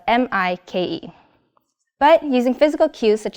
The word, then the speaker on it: Mike: So he tries to improve his technique a little bit by using an acoustic approach, like I'm Mike, it rhymes with bike.